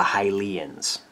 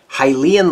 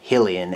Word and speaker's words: Hylian: outside cover here and hylian lore so hylian is an adjective describing the word lore or hillian as 13 year old bob would have pronounced it so nintendo seems